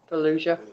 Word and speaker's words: Fallujah: How do you pronounce that? Fallujah? Fallujah.